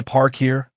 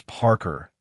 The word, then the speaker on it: Parker: Eli Park here, she said, mispronouncing it with a hard emphasis on the second syllable. It's Parker, ma'am, like someone who parks a car.